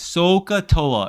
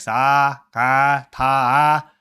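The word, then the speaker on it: SOHCAHTOA: Sokatoa. And yes, you have to pronounce it like that. I remember one student, she's like, sa, ka, ta. No, sokatoa.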